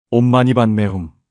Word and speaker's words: 옴마니반메훔: 옴은 입을 크게 벌려서 깊은 곳에서 나오는 소리로 마니는 혀를 입천장에 대면서 반매는 부드럽게 후문 입을 다물면서 코로 올림을 주듯이 발음합니다.